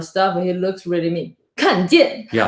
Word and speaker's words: 看见: Every time he say 看见, like means look or stuff, he looks really mean. 看见. Yeah, because it's 4/4, like the down tone.